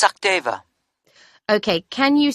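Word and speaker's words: Sachdeva: It's Sakdeva. Okay, can you spell that for me?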